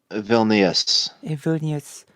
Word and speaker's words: Vilnius: I got it the capital of Lithuania ah pronunciation thank you Vilnius like I tend to ask so after World